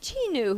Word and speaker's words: Cheenu: know you and next we're going to meet chinu who i met i guess about a year